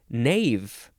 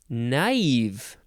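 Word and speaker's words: naïve: so um it's uh you have to pronounce it in a separate syllable so if the word naive did not have the two dots maybe we would want to pronounce it Nave naive and then Bronte uh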